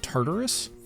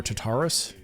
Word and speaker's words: Tartarus: the Razer Tartarus, or Tartarus. Note to self, look up how to pronounce that and play the pronunciation after the gap. Well, actually, either could potentially be correct depending upon who you ask.